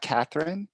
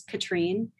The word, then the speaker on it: Catherine: it's not Catherine. It's, how do you say your name? I know please do not apologize, because it's the French side and it's not intuitive. It's Katrine. Katrine? Like Catherine.